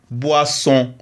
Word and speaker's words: boisson: O i ça donne le saut wa bois et double sne boisson. Boisson. O n ça donne leçon on c'est pourquoi nous disons boisson.